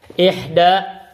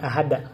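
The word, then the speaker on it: إحدى: Dan ini bacanya ihda, bentuk ihda, bukan ahada di muannas. Karena ahada asyara, ini ihda asyara.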